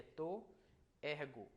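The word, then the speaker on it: τῷ ἔργῳ: Tois ergos, mas aqui como está subscrito, ele só aparece graficamente, mas sonoramente é to ergo.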